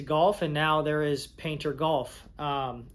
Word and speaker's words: Payntr: and now there is painter golf. Um, if you don't know how to say how to say it or spell it, that's it right there. P A Y N T R. Painter.